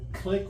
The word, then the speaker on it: clique: Well, but they, a clique or a clique, I've heard it pronounced, kind of grouped together.